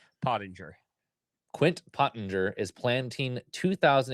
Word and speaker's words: Pottinger: Pottinger.